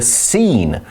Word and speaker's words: scene: Well, we see in the article that movie theaters became the scene for many of Hopper's paintings. Movie theaters 电影院变成了什么呢？我们看到这个名词 scene 什么意思？Let's find out.Scene 这个名词呢是场景、景色，那发音要注意哦，字首的 sc 合并变成 s 的声音就可以了。所以我们说 Hopper 喜欢画电影院的场景，那除了电影院的场景，还有像是街景 street